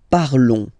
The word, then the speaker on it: parlons: Nous parlons, okay? Remember, final s is not pronounced, okay? And then this on together, they will give you the sound on, okay? Nous parlons, nous parlons.